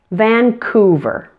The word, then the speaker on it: Vancouver: spelling video so for the ending of Vancouver don't forget your V pronunciation attach that to the ER sound and you get verb verb so putting it all together now the pronunciation is Vancouver let's practice it in